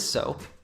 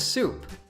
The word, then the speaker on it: soap: for washing the body be careful not to confuse its pronunciation with soup one is soap and the other is soup